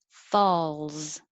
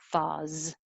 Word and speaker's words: falls: one where you should hold your tongue in the l position longer than you might usually think you need to so that the l can be heard and it looks like an s but it sounds like a z falls if you don't hold the l enough it'll sound like fawz and if you don't